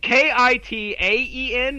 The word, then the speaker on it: Kitaen: pronunciation bridge together okay ki ta en there it's not Iike tip god dammit right there it is I'm looking how you